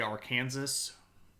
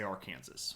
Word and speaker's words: Arkansas: that we pronounce words you would say AR Kansas but we don't say AR Kansas we say Arkansas because it's weird like that anyway so um we